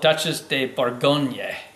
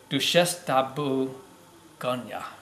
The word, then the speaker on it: Duchesse de Bourgogne: I don't butcher this the proper pronunciation on this is do chef de Bologna a lot of people call it duchesse de bourgogne but douche esta boo ganya I see duchesse de